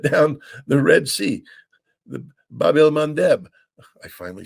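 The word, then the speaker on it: Bab el-Mandeb: the hoody shut down the Red Sea the Babel mandb I finally said it right and um they've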